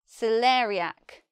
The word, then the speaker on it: celeriac: we say celeriac celeriac let's look at the pronunciation more closely when I write it here I cannot write in a precise way how we really say this word because here in this syllable we have an air this is a dip song where two vowel sounds are together in one sound but I don't know